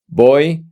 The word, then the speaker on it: voy: If you notice, we don't pronounce the V in Spanish. The V in Spanish is pronounced B.